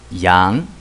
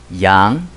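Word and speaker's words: 羊: the head of a sheep yeah right the pronunciation is Yang Yang yeah Yang okay you you know my last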